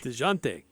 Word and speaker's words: Dejounte: I've been calling him DeJounte Murray. Silent J. It's DeJounte Murray. DeJounte.